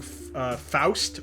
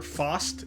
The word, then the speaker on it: Faust: This is using the Gorillaz song Faust or Faust. It depends on if you want to use a Germanic pronunciation.